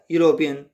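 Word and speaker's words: European: जैसे ही इज़ अ यूरोपियन, ई से बनाया, ऐसा लग रहा है जैसे इसमें एन आएगा, बट चूँकि प्रोनाउंसिएशन कैसा है इसका, यूरोपियन, य की साउंड आ रहा है तो वो कॉन्सोनेंट साउंड है, वाई का साउंड आ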